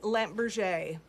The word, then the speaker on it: Lampe Berger: go there we go it is pronounced lamp Berger because it is French it is okay sorry